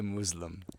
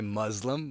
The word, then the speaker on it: Muslim: I love how you say Muslim because Americans say Muslim but you actually pronounce it more accurate. It's Muslim.